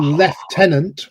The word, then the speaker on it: lieutenant: Or left tenant or lieutenant.